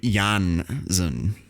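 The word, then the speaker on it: Janszoon: So, 1606, there's a guy called William Janssen.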